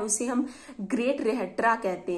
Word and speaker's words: Rhetra: जो constitution of Sparta है उसे हम ग्रेट रेहेट्रा कहते हैं। इसको कुछ भी प्रोनाउंसिएट हो सकता है, लेकिन मैं अपने तरीके से प्रोनाउंसिएट की हूँ, great रेहेट्रा, GREAT, great RHETRA, रेट्रा, great रेट्रा, जो कि लिखा गया था लाइकरगस।